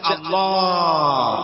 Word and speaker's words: আল্লাহ: আল্লাহ পাকের উচ্চারণটা হচ্ছে, আল্লাহ পাকের নামকরণ হচ্ছে আল্লাহ। মুখটা একটু গোল হয়ে যাবে, বলেন আল্লাহ আল্লাহ।